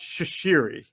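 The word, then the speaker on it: Chachere: follows that trend and his name is andre i believe it's pronounced shishiri okay oh okay yes i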